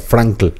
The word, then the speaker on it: Frankl: Bueno, él era Frankl. Pero se pronuncia pero, Frank. Sí.